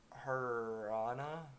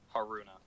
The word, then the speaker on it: Haruna: Haruna. Yeah. Yeah. Oh my god. That's Harun. Haruna. Like you pronounce the U.